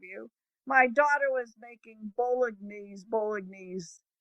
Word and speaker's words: Bolognese: My daughter was making bolognese. How do you say bolognese sauce? Is it bolognese? I think bolognese. You're close. Bolognese.